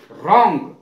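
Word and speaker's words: wrong: में W silent रप लपेटना इसका अर्थ है रंग रंग माने गलत डब्लू साइलेंट रहेगा इनम और इसमें यू साइलेंट रहेगा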